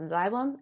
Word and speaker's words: xylem: Two funny words, but that really is how they're pronounced, xylem and phloem.